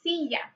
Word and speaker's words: silla: Chair is la silla. La silla. The y sound is with a double L. Silla.